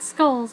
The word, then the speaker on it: Skrulls: lot like the Scrolls a lot of people thought it was Scrolls um not skrulls but Scrolls s KR u l l s Scrolls uh